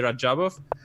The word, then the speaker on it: Rajabov: And then That they would sounds ask me, I mean, how should we pronounce? And I would say Rajabov.